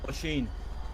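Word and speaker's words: Oisín: How do you say your first name? Oisin? O'Sheen. O'Sheen. That's the one.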